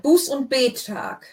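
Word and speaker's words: Buß- und Bettag: Buß und Bettag. Bettag. So the Bettag, the gap goes between the 2 T's. It's not a bet.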